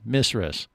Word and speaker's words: Mrs.: And so they told you were saying it wrong. You got to say Mizres.